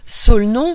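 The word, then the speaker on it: Solnon: ouvrages le premier Catherine de mdicis de Jean-François solenon solenon ça s'écrit s o L N O n il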